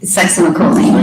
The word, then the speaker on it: Succinylcholine: And so if the, butcher the pronunciation, you pronounce it. Succinylcholine.